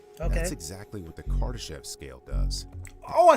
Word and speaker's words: Kardashev: That's exactly what the Kardashev scale does.